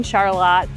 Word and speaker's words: Charlotte: located behind some of the homes here in Charlotte that have a truly unique area.